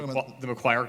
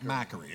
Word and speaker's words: Macquarie: The McGuire case. Oh, the McGuire case. Up on Friday. Is that how you say it? It's Macquarie.